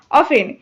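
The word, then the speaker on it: often: অনেকে ভুল উচ্চারণ করো অবটেন উচ্চারণ করো এটা কিন্তু অবটেন হবে না এটা হবে অফেন এটা অ্যাডভার্ব আর এর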